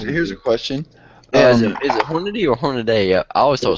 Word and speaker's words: Hornady: I think here's here's a question is it Hornady or hornet a I always only one a it's Hornady horn I'm pretty sure the company calls it